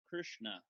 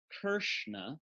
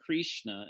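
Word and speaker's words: Kṛṣṇa: you spell Krishna now notice I want you to notice it's not Kershner it's not Krishna with an eye right so it's not Krishna it's not crucian uh it's in between all three so if we draw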